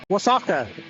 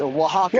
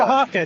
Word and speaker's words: Oaxaca: Oaxaca. It's not close. It's very close. Well, what is it? It's Oaxaca. Oaxaca.